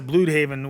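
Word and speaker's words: Blüdhaven: Uh, and they pronounced it blue haven, which which I thought was pretty weird. Uh, wild because I mean I guess I think it does have the two little dots, but I've always said Blood Haven.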